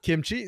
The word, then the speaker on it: Kimchi: Meanwhile, we also did confirm the top laner's name pronunciation is not Kimmich, as I've been calling him. It is Kimchi.